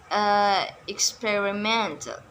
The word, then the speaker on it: experimental: emphasis, namely environmental and experimental and instrumental. The stress is not on the third syllable but on the fourth syllable.